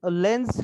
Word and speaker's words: Lenz: Okay, now here don't pronounce this as the like Lenz's law, like that, it is not like that, just Lenz law.